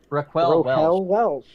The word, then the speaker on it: Raquel Welch: Raquel Welch. It's hard to pronounce. Raquel Welch. Yes. Like Welch is grape.